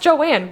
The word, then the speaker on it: Joan: It's pronounced Joanne. Yeah, well, it's spelled Joan.